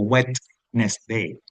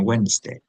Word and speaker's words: Wednesday: Yo no digo wet nest day, sino Wednesday. Así que cuidado con esa D.